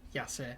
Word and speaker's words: Yasser: No, it's not Maisa, it's Yasser.